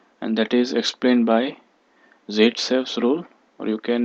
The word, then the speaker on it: Zaitsev: It is pronounced as Zaitsev.